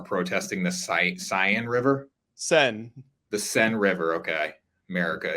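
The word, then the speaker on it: Seine: protesters who are protesting the SI cyan River sen the sen River okay America it would be pronounced cine in America but they're protesting the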